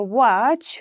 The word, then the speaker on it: watch: say castle right we say castle in a watch we don't say what right the t will